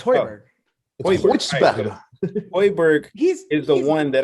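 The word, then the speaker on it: Højbjerg: No, it's Hoiberg.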